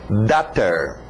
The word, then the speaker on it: daughter: Alright, lembra da pronúncia de water? Então só muda o W para um D. Daughter.